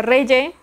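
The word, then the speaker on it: Regge: Ok, entonces, me dijeron ayer que se pronuncia Reye.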